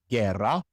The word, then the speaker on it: guerra: But we don't want that and so we put a silent U between the G and the E and between the G and the I respectively. Guerra guia The other situation